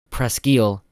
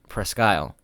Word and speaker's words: Presque Isle: I think it's interesting to note that there are two pronunciations for Presque Isle. One is the French pronunciation, Presque Isle, and the other is the British Presque Isle.